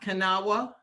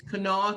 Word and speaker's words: Kanawha: are very funny about how county names are pronounced it's not kanawa it's not county it's kanawha county for those of you who have seen